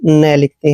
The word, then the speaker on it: KNEEL: जब भी दोस्तों एन से पहले के आता है, के हमेशा वहां पे साइलेंट रहता है, उसका उच्चारण हमने करना ही नहीं है। तो के हमने पढ़ना ही नहीं है, एन को न लिखते हैं। डबल ई का उच्चारण ई की मात्रा लिखते हैं और एल को ल पढ़ते हैं। नील, नील मीन्स होता है दोस्तों घुटने टेकना।